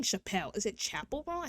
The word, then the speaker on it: Chappell: post for National Women's Day, where they showed Chappelle Roan, Miley Cyrus, and somebody else, and they also spelled Chappelle Roan's, or is it Chapel? I keep on saying Chappelle.